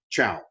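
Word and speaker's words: Zhou: and that is the chao dynasty now it's zh and to us it looks like uh zhu zhao but in chinese pronunciation it's kind of given a ch sound ciao the chal dynasty begins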